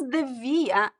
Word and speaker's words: devia: So we use devia because it's easier to pronounce. You don't have the r sound, right? It's shorter.